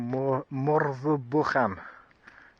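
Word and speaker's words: Morfa Bychan: Again, there's a place called Morva Bham. So, it's spelled M O R F A B Y C H N H A N.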